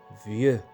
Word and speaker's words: vieux: شاب jeune jeune ضده عجوز vieux vieux. كذلك x لا يتم نطقها vieux.